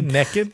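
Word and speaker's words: nekkid: k k i d naked yeah the pronunciation NE had long been a regional variant of naked but 40 years ago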